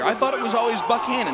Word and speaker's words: Buchanan: But Tim Buchanan himself pronounces it Buchanan.